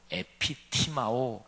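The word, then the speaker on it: ἐπιτιμάω: 왜냐하면 여기에 예수를 붙들고 항변하다 이 단어가 헬라어로 에피티마오 이렇게 발음하는 단어인데요.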